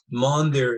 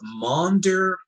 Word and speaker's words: Maunder: this is called a monday period monder is spelled m-a-u-n-d-e-r monder period during the maunder period